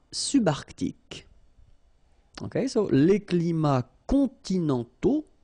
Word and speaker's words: continentaux: Okay, so les climats continentaux. Remember, final X not pronounced, and then this A, U together, they give you the sound O.